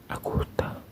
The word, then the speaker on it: Augusta: Su infancia tuvo marcada por la figura dominante de su madre, Augusta. Austa, así se pronuncia, era extremadamente religiosa y muy estricta.